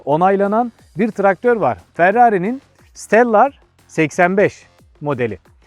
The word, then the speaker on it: Stellar: Ferrari'nin Stellar 85 modeli. Şimdi Steller diye de söyleyebiliriz. Daha İngilizce telaffuzuyla söylemek gerekirse.